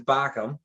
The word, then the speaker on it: Bochum: well yeah they um it's actually is bacam you gotta got a german pronunciation my english to german is not is not the greatest it's the double dots over the o um i believe espn